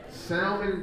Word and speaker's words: salmon: Salmon grits. Salmon. The L is silent.